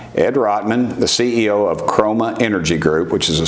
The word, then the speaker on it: Chroma: to to launch chroma am I saying it right chroma yeah that's a perfect exactly so well first